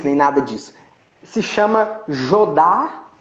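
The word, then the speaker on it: Jodha: Se chama Jodar Akbar.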